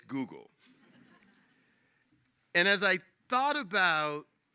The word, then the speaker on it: Google: this little small startup called Goggle. And that's how he pronounced it. We all know now it's Google.